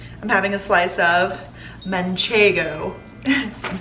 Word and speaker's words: manchego: I'm having a slice of manchego. I'm pronouncing it correctly, we love that.